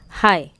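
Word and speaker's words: high: नाइट, जी silent है। Good, तो एल। राइट, डब्ल्यू। हाई, एच।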